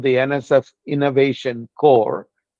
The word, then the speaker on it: Corps: So we created something called the NSF Innovation Core. It's spelled like Peace Corps, CORPS, NSF I-Core program in 2011.